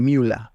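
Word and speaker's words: Müller: craneal del conducto paramesonéfrico de müer o de miula, ¿no? Como pronuncian los alemanes.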